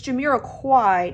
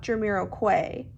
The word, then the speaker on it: Jamiroquai: found out that uh I've been pronouncing the band's name wrong it's Jiro Quai not Jiro Quay my bad y'all my